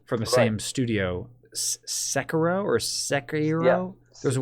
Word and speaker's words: Sekiro: It's not a Dark Souls game, but it's from the same studio, Sekiro or Sekiro. Yeah. There's a way to pronounce Sekiro?